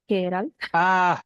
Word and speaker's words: Geralt: It's more of a K than a G. Geralt.